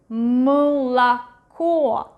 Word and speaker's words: молоко: But this one is one more syllable like before the stressed one, so it's not really pronounced as A, but something in between U and E, молоко, молоко.